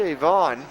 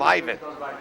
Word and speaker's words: Ivon: in the summer program called him Ivan spelled the same way he looked at me and made made it absolutely perfectly clear that he is not Eastern European he Fallen okay all right got it not Ivan there's a snap quarterback